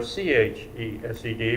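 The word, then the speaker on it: חסד: It is transliterated either H-E-S-E-D or C-H-E-S-E-D because of the way the Hebrew pronounces chesed or chesed.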